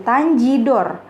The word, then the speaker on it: Tanjidor: Kata tangedor itu kemudian diucapkan menjadi Tanjidor karena G itu kalau dalam bahasa Inggris kan dibacanya J ya, jadi dan E dibacanya I. Jadi orang Indonesia, orang Jakarta menyebutnya Tanjidor.